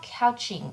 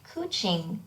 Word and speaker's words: couching: but they're they're called couching or sorry kuching sheets they're spelled like couching but it's pronounced kuching so these are sheets